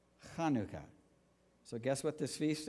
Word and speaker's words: Chanukah: The Hebrew word for dedication, which is also the same word for consecration, is pronounced in Hebrew, Chanukah. Chanukah.